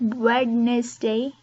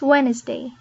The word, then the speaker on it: Wednesday: Not Wednesday, it's Wednesday. Wednesday.